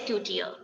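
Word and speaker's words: couturier: Okay, and next is coutier. It is not couture, it is coutier.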